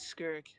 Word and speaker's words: Skirk: Let me see how to pronounce this word. My Oh, it's Skirk.